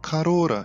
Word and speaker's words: Corolla: Toyota Corolla, aliás, é pronunciado Carora em japonês.